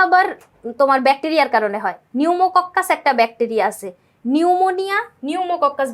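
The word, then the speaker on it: pneumococcus: কিন্তু এখানে তোমরা ভুল কি করবা জানো? নিউমোকক্কাস যে ব্যাকটেরিয়া ওটার বানান যদি তুমি ইংলিশে লিখতে যাও সেক্ষেত্রে সামনে একটা সাইলেন্ট পি থাকে। পি এনই ইউ এরকম করে।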